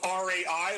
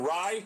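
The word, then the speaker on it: Rai: Aaron Rybread, but it's spelled R-A-I like Ray. Watch out for him. He plays on both tours. Aaron Rye, 70-1.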